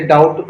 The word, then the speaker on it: doubt: बहुत से वर्ड्स में जैसे डाउट आप बोलते हो, DOUBT, तो वहाँ पर भी डाउट, डाउट तो नहीं बोलते, क्या बोलते हैं आप? डाउट बोलते हैं। वहाँ पर भी बी साइलेंट होता है।